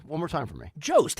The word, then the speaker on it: Jost: Jost, how it's spelled, Jost, Jost. Okay.